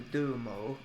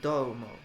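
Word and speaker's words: どうも: So we do mo or domo. It's domo.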